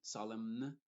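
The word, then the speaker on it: solemn: como una n original y en palabras que terminan en m n que hay algunas la n es muda y la m sí se pronuncia por ejemplo solem no se dice solem y con la n al final solem sino solem condem por ejemplo dam o autum en ese caso la n está siendo muda y después la otra tipo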